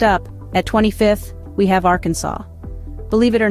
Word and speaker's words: Arkansas: Next up, at 25th, we have Arkansas. Believe it or not, it's illegal to mispronounce the state's name while within its borders, so make sure you say it right.